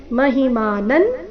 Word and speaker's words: ಮಹಿಮಾನಂ: ಚರಣ ಮೂರು ಶಬ್ದಗಳು ಅಜಾನತ ಮಹಿಮ ಮಾನನ್ ಅನುಸ್ವಾರದ ಉಚ್ಚಾರಣೆ ನ ಇಲ್ಲಿ ಮಹಿಮಾನನ್ ಮುಂದೆ ತವೇದಂ ಇಲ್ಲಿ ಅನುಸ್ವಾರದ